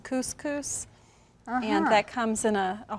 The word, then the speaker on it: couscous: garlic and red peppers kooshes you know i've not tried these before that's well actually i think that one's pronounced couscous and that comes in